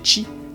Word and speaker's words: Qi: existe depuis quelques années la norme QI prononcée chi qui permet de recharger